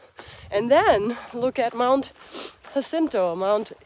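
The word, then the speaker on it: Jacinto: not even though but because it's spelled with a J and some people say it's actually pronounced like a y like the Germans pronounce a j like yento or s sento um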